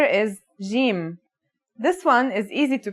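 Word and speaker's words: جيم: arabic and syrian arabic it should sound like the j in the word jam while in egyptian arabic it sounds like the g in the word game they're both quite easy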